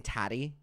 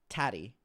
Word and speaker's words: Tati: Adam, it rhymes with fatty.